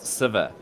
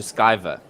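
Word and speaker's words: Sciver: Hello, Ravi Nair, asking, why does nobody read out my pronunciation on note on Siver? It's pronounced Siver. No, I'm going to change it to Skyver.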